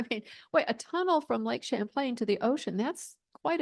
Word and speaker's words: Champlain: New York's Lake Champlain what is it called Lake Champlain if you want to pronounce it wrong like champ elain champ plane champ very good yes and um Lake